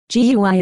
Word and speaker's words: GUI: GUI is pronounced GUI.